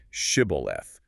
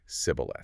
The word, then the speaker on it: shibboleth: would make him say the Hebrew word shibboleth, which means an ear of grain or a flowing stream. Right. But the Ephraimites had a different regional dialect. They couldn't pronounce the sh sound. The text says he could not frame to pronounce it right, so he would say sibboleth.